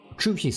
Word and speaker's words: Zhu Xi: call it Tris Legacy because the way you pronounce in Chinese the t h u you need to put your tongue on top of it it's like true something like this so you you call it a TR try Legacy and I